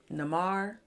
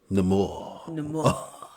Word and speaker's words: Namor: Namar, did I say it right? Who you talking about? The underwater dude. Namor.